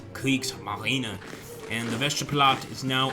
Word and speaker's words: Kriegsmarine: And some of you guys might hate the way I say that, but that's actually the correct pronunciation. It's not Kriegsmarine, it's Kriegsmarine.